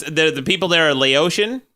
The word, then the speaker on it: Laotian: eclipse in this collar hey dick start it's pronounced Laotian they're not from my rash they're from Laos